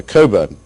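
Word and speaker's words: Cockburn: I should say that Alexander Coburn, to pronounce his name correctly, is a very valued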